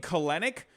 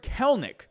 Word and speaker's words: Kelenic: i thought it was always i was saying clinic and then um what was the other way